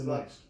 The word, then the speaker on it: Benoist: Remember where the rhymes with moist? It's Benoist. Yeah, it's.